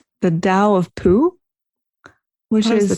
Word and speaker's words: Tao: years ago called the dao of poo which is the tao of poo i think it's spelled town but i thought it was pronounced like dallas oh i wouldn't know